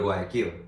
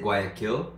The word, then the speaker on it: Guayaquil: So, because he has to go to Guayaquil. I always want to pronounce it Guayaquil, not because of kill, but because it's just the way that I would pronounce it like in English, like an English accent.